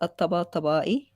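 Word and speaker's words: at-Tabatabai: And that's it's actually pronounced at-taba-tabai. It's kind of a tongue twister, but it's not easy if you're not Arab to say.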